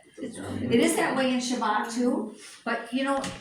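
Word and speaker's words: שבת: It is that way in Shabbat too, but you know, it's kind of, if you listen to when you say Shabbat, Shabbat. You know, you don't go Shabbat, it's Shabbat. It's there, Yeah.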